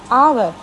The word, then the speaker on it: hour: We pronounce it as hour. Are we pronouncing this H? No, we are not pronouncing this H.